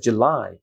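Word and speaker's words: July: শক্ত jam jump জুলাই জুলাই এখানে একটা স্ট্রেস আছে সেকেন্ড মানে last syllable জুলাই this one বাংলাতে আছে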